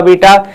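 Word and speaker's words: beta: आ जाएगा ठीक है वो बीटा है बीटा नॉट बेटा ठीक है रिस्पेक्टिवली वीी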